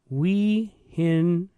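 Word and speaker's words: Weihenstephan: It's pronounced Wehensteffen. Wehensteffen is the way that they... Wehensteffen. Something like that.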